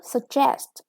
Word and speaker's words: suggest: The verb suggest. Yeah, with the second syllable is stressed.